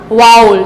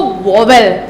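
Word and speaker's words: vowel: वाउल, जो सब लोग क्या बोलते हैं उसको? वोवेल। वो भी हमारा रॉन्ग प्रोनाउंसिएशन है।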